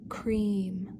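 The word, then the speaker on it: क्रीं: The Kali Bija is cream. It sounds like cream.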